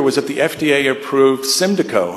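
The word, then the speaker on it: Symdeko: that the FDA approved Cindy Koh and that's the way you say it it sort of rhymes with kalida KO sort of then approved Simba Co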